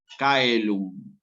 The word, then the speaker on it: caelum: palabra que por ejemplo esta palabra se dice caelum si el sí cae el telón el cielo se escribe así en latín clásico se va a